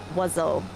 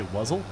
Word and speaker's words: oiseau: The other really cool word in French is oiseau. Do you know what animal that possibly could be? You say wuzzle?